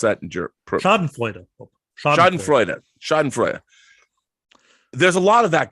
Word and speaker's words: Schadenfreude: How do you pronounce that in German? Schadenfreude.